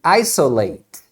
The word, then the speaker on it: isolate: terminam com ate então se for um verbo você vai pronunciar e por exemplo o verbo isolar vai ser to Isolate Isolate first of All they